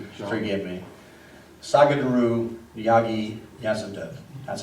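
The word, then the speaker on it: Sadhguru Jaggi Vasudev: Sagadaru Yagi Yasudev.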